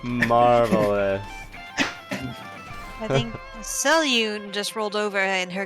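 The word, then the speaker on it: Selûne: That's how I pronounce it, right? Is that? That's good enough. You're inspired. Salune. Yep. That's how it is. That's her name, right? Marvelous. I think Selune just rolled over in her gridline grave, but you know what?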